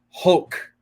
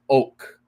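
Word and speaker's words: hoc: Pius the 10th is oak. No pronunciation no pronunciation of the H.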